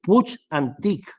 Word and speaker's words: Puig Antich: el ordenador pequeña y volvemos un clic bien pronunciado es puig antich que la dije un día se pronuncia y